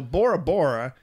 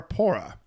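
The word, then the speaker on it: Bora Bora: do some other facts the letter B does that exist in the teehee language so bora-bora actually is poor poorer huh when it which means firstborn but visitors kept in saying bora-bora yeah well let's just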